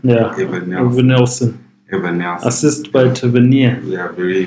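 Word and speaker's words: Evanilson: How do you pronounce his name? Evan Nielsen. Yeah, Evan Nielsen.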